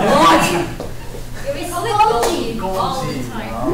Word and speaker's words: Golgi: So the vesicle is coming from Golgi. Do you know what's Golgi? Oh shoot. Oh, gold. Oh, you read it as Golgi. What do you pronounce? Golgi? Yes. That's Chinese medicine. It's Golgi.